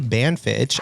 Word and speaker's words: Banfitch: His name is Robbie Banfitch. I pronounced that right?